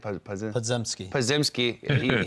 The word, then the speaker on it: Podziemski: How do you say it? Podziemski.